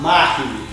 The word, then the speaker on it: Mahi: I'm at, how do we pronounce this? Mahi. Mahi.